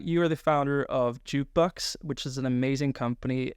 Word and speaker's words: JKBX: That's JKBX, but pronounced Jukebox.